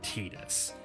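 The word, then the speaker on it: Tidus: fully in tas's perspective yeah I said tetus it's TAA in Japanese I know it seems weird but check the Japanese pronunciation son what was I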